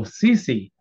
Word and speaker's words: sissi: Well, depends on your pronunciation. You mean sissy? That would be the word. Oh, sissy.